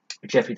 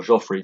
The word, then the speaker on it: Geoffrey: the lionheart become rich the first of England Geoffrey the second group or Joffrey the second depending pronounce it Duke of Brittany so yeah Brittany